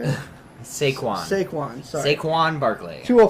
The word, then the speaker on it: Saquon: Saquon.